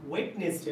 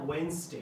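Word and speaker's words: Wednesday: হ্যাঁ, আমি তোমাকে বুধবারে দেখতে চাই, I want to সি ইউ অন ওয়েডনেসডে, না ওয়েনসডে, উচ্চারণ ঠিক কর, ওয়েনসডে, I want to সি ইউ অন ওয়েনসডে.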